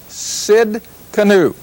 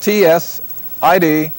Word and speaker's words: Tsidkenu: Now, in the Hebrew, this is Jehovah Tsidkenu. And that's spelled T-S-I-D-K-E-N-U.